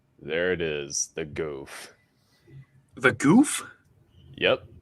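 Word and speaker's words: Gouf: like a again there it is the goof the goof yep it's called the goof they named a mech after goofy yeah so it's the goof troop goof troop on steroids but seriously though the goof is a beast of a mobile suit as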